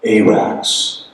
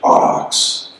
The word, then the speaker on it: Arax: That Mark and Randy and the pronunciation of Arax, which is actually Arax.